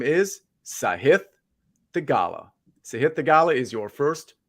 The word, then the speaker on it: Sahith Theegala: His name is Sahith Theegala.